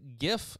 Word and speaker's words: GIF: Which is why it's a hard G and not a soft G. It's GIF. Not GIF. It's GIF.